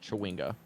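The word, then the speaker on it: chwinga: is yet but yes they are pronounced chawinga and there are hundreds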